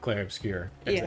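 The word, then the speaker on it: Clair Obscur: I've been so excited about Claire Obscure.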